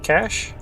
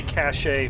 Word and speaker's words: cache: E is silent, yeah. I know how to say it, and yet I still say cache from time to time. So just cache, yeah.